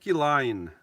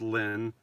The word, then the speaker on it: Lynn: Line. Good morning, Lewis. Happy Sunday between us. My name is pronounced Lynn, not Line.